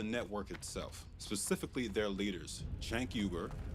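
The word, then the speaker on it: Cenk Uygur: This one's about the network itself, specifically their leaders, Chank Yuber, that's how the founder of TYT, Chank Yuber, pronounces his name, by the way, and the self-labeled politically homeless Ana Casperi.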